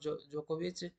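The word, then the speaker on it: Djokovic: Runner up कौन है, Novak जोकोविच, डी साइलेंट है इसमें, ध्यान रखना, और सर्बिया से है वो।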